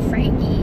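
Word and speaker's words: Franchi: was on Frankie Seeds, and it's Frankie, the guy pronounced it Frankie, and it's the oldest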